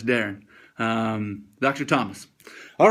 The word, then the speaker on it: Darin: you say your name Darren that's how you say my name um in uh south of the boorder in Mexico they say Dar but it's Darren um Dr Dr Thomas